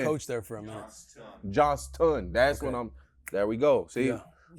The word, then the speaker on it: Johnston: Johnson. Are you sure it's Johnson? Because Yep. it's spelled I mean, you with a coached there. S-T-O-N. You coached there for a minute. Johnston.